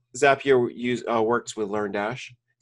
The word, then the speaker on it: Zapier: app here today or as a peer it depends on how you want to say it I say zapier because it's a zap so in my mind it's easier to say it like that what is that what